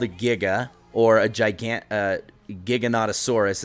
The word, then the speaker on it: Giganotosaurus: So this is called a Giga, or a Giganotosaurus is actually how it's pronounced, but he's the biggest, vicious, meanest, most insane tame. What did you call it? Vicious. Giganotosaurus? Yeah, it's called the Giganotosaurus. A Gigantosaurus?